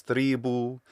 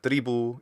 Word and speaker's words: tribu: instead of omni tribu this first e vowel is too long it sounds like it's three boo instead of tribu it should be short but is that say